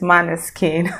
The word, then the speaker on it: Måneskin: and i just realized the correct pronunciation is mana skin so follow me on